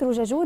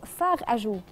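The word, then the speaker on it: fard à joues: الناس حرف يعني قالت كلمه روجاجو دي على المنطق بتاع ان روج يعني احمر وجو يعني خدود فاحمر خدود. هي مش كده، هي هناك في فرنسا بيقولوا فاغ اجو.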